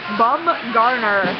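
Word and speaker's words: Bumgarner: Matthew rley has texted in with the proper pronunciation bum Garner thank you Ripley thank you we appreciate it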